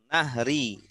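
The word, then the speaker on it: نهر: Nahri, yang benar nahri. Oh, nahri. Kalau nahar ada alifnya, nahar siang. Oh iya.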